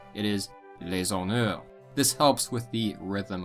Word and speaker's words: les honneurs: Because the H is often not pronounced in French, it is considered a vowel. Thus, instead of les honneurs, it is les honneurs.